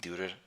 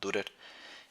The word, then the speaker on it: Dürer: un tal Albrecht Dürer, creo que así se pronuncia la U con diéresis, Dürer o Dürer, en el primer tercio del siglo XVI.